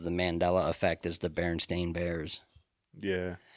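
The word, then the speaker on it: Berenstain: Mandela effect is the baron stain Bears yeah so many people swear it was Baron Stein EI n instead of Baron stain a n I think that comes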